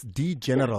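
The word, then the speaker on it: D'General: It's D General, because it's a D, then there's an apostrophe general after that.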